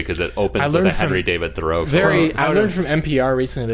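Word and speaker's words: Thoreau: very important movie cuz it opens Henry David thorough I learned from NPR recently that it's actually pronounced thorough ohenry David th well it's a very out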